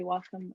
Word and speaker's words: Wacom: Sorry, Wacom. I haven't bought one in a long time. You actually pronounced it correctly.